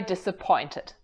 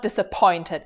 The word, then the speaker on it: disappointed: I'm very disappointed. No, wait. Rachel, help me out. It's not disappointed, is it? Another word set where it's pretty common for Americans to drop the T's.